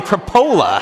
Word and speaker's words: Tripoli: can't figure out is it's spelled Tripoli, but they say they say Trapola. I'm like, how do you get Trapola out of that?